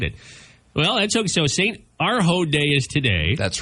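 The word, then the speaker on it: Urho: St. Arho. It's spelled U-R-H-O.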